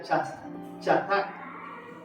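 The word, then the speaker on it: חזק: Esa frase, encontró fortaleza, viene del hebreo que se pronuncia chatak.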